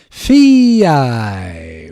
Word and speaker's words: Fay: This is Fi. Welcome to the challenge. I don't know how to say it. Hey everybody, my name is Fay and I just did